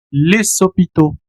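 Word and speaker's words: les hôpitaux: Y en el caso de, por ejemplo, hospitales, hospitales se escribe así, les sopito. Aquí la X no tiene un sonido, tienes un ah diptongo a u que se pronuncia como o.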